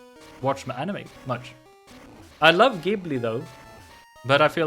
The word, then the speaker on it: Ghibli: In Japanese, it is Ghibli. So with a G sound. So it would be in English then Ghibli.